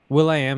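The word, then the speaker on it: will.i.am: Will I Am is actually meant to just be pronounced as William.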